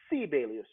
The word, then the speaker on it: Sibelius: preface this by saying they pronounce his name sibelius there because americans think i'm crazy i don't know how to pronounce that name in finnish every first syllable of a word is is emphasized so if i say which means good morning how are you so you say sibelius so sibelus is one